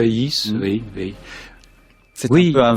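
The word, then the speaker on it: Dufaÿs: Baudelaire et Caroline Archambault Dufayis. C'est comme ça qu'il faut le prononcer. Dufayis, oui.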